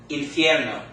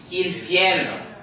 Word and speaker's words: infierno: How many syllables does the word infierno have in it?